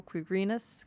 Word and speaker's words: Quirinus: Stress on the second syllable. Quirinus.